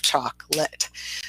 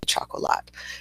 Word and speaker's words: chocolate: vowels in it, but in reality it's actually a 2-syllable word. We have chocolate. So that O in the middle, we don't pronounce at all.